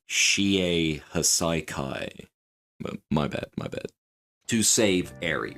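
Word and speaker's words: Shie Hassaikai: heroes to raid the Shihasakai. Okay, sorry, hang on a second. I'm completely butchering the way how that's pronounced. It's pronounced the Shie Hasaikai.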